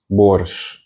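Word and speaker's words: борщ: Then we've got the Russian soup borщ, which is borщ, the Russian beet soup. And the sh is pronounced like the sh in shoe, shoe.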